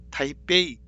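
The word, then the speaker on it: 台北: 대만의 수도 타이베이도 대북으로 하지 않고 타이베이, 뭔가 타이베이, 베이징, 타이베이 이렇게 배로 발음한다.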